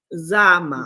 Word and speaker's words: Zama: And so I don't want to mispronounce her name again because is it Vama? What is it? What's her name? Zama. It's almost like Da, but Zama.